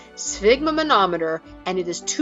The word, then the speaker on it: sphygmomanometer: I remember seeing one of these at my doctor's office when I was a kid, but I'd never heard the name sphygmomanometer and it is too cool a word not to share.